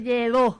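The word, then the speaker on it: Lledó: Y estamos también, como decía José Lledo, no sé si está bien la pronunciación, lleva acento, no acento. Lleva acento en la O. Lleva acento en la O, entonces Lledo.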